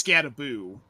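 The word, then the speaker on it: Skattebo: I like Cam Scataboo, which apparently it's Scataboo. We've been saying it wrong this whole time.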